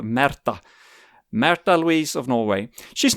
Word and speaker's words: Märtha: Listeners may be aware that Princess Märtha Louise of Norway, I know probably the Anglophiles of this podcast would pronounce her name Martha, but she is called Märtha.